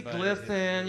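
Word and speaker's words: Glisan: it's, I don't know, is it pronounced, supposed to pronounce like glisten? I don't know. Supposed to be glisten. Supposed to be glisten, like men sweat, women glisten.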